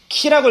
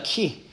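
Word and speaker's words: χ: 자, 이게 키라고 읽습니다. 키. 이거를. 헬라어 알파벳을. 키라고 읽어요.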